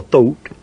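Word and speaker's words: Thoth: the egyptian god taught t-h-o-t you'd pronounce thought or thought says to osiris another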